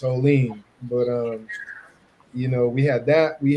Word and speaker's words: Olean: It's everybody here, and it's Olean.